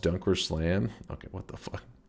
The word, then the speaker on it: DunkOrSlam: He keeps pronouncing my name as Mr. A. Uh, but uh, it's actually pronounced dunker slam.